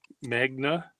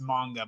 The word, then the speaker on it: manga: How do you spell that? I never remember. Magna. Mang manga. It's magna. Manga. It's it's it's if you want to get tedious about it, it's pronounced manga, but nobody's going to bother you if you